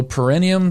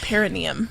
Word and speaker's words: perineum: you to try also i think it's pronounced perineum yeah perineum yeah yeah what's perennium uh